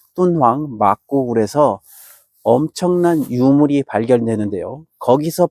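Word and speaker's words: 敦煌: 그 위쪽에 돈황, 중국 발음으로 똔황입니다. 똔황 막고굴에서 엄청난 유물이 발견되는데요.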